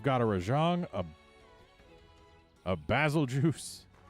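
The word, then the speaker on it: Bazelgeuse: a rajon a a basil juice that is how i'm going to pronounce it because basil yeah sure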